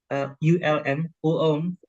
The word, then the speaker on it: Ulm: Applied Sciences in Ulm, Germany, Ulm, that's how they pronounce it.